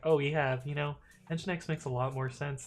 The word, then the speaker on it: Nginx: For instance, Nginx, I didn't know it was pronounced Nginx for the longest time. I thought it was pronounced Nginx, or at least that's how I said it in my head.